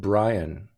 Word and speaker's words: Brian: Oh, so he pronounces it Brian, but it could be pronounced Brienne.